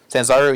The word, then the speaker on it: Sanzaru: Sanzaru.